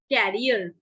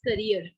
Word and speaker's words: career: you like so in this way many people pronounce it carrier it is not carrier this is career this is career carrier is very different thing